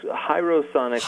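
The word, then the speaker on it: Hierosonic: Is it Hero Sonic? Close. Hero Sonic, like hieroglyphics.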